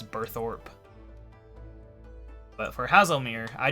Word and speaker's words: Burthorpe: just like birth oh I still pronounced birth up even though I technically know its burthorpe but for house Almir